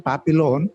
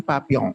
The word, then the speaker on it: Papillon: book is known as in english pronunciation papillon and in french pronounce your pronunciation papiyan so in that particular